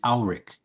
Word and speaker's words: Ulrich: Somebody asked Mom, how do you say my last name? It's Ulrich. It's German.